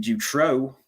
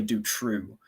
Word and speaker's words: Dutroux: couple of weeks ago we've been pronouncing jutro incorrectly because over there in belgium see i have a flemish friend that i speak to once a week and uh i was like hans which way do we uh pronounce this is it jutro or do true and he's like it's actually do true and i was like